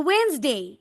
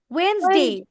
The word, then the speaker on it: Wednesday: বলো Wednesday. Wednesday. Wednesday. Okay. Nijhar. Would you please repeat from here? Nijhar. How to pronounce it?